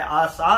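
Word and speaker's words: עשה: और कुछ स्कॉलर उसे ASAA कहते हैं, कुछ स्कॉलर इसे कहते हैं ASHA। और ये डिफरेंट स्कॉलर है लेकिन उसकी प्रोनाउंसिएशन जो है आसा है और उसका मतलब है मेक और मेड।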